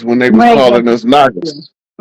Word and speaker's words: Naga: He becomes the fully seven-hooded naga. Right? Not nigga. Naga. Naga, that's different. Yep, it's a different.